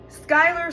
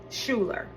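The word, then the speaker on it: Schuyler: Skyler spelled s c h u y l e r leads people to think schuler because they pronounce that shu instead of sky, right?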